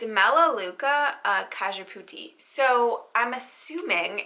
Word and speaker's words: Cajeput: And then I had to look up how to pronounce this one. I've never heard of this. It's Cajeput.